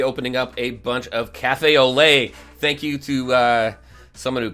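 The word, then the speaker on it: café au lait: Thank you to someone who commented in my comments for the last video, because I kept on saying Cafe au Lot, I think I said, but no, Cafe au Lait.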